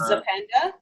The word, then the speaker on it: Zapenda: Can you pronounce it again? It's Zapenda.